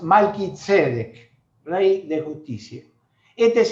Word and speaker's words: Malquisedec: A veces se traduce Melquisedec, pero en hebreo bien pronunciado es Malquisedec, rey de justicia.